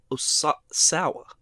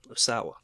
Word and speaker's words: Osawa: so this game was developed by turu o oawa osawa yes okay and Nintendo's uh research and development